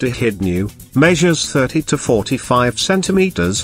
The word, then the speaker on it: echidna: Sometimes called the spiny anteater, the short-beaked echidna, pronounced echidnew, measures 30 to 45 centimeters long and weighs 2 to 5 kilograms.